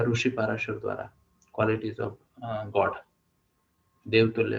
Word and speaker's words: पराशर: स्मृति में लिखा गया है, महर्षि या ऋषि पाराशर द्वारा, क्वालिटीज ऑफ गॉड, देवतुल्य लोगों की क्वालिटीज। ओके, पराशर या पाराशर, पराशर। ओके, तो हम क्या करते हैं, गीता मैम को एक बार प्रोनाउंस करने का मौका देते हैं।